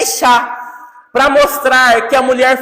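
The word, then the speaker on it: אישה: E a palavra mulher, como é que se pronuncia? Ishá.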